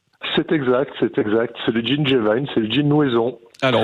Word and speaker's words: G'Vine: J'ai bien prononcé ? C'est exact. C'est le gin Gévine, c'est le gin Nouaison.